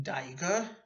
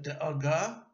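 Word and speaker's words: דאגה: And because Yiddish is spoken by Ashkenazim, you would not pronounce the feminine ending like an Israeli, ot, like bonot, zugot, mishnayot, but like an Ashkenazi. For example, worry, daiga, instead of da'aga, and that plural of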